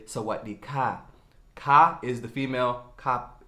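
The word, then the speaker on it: สวัสดีค่ะ: And if you're a woman, you're going to say Sawadee ka.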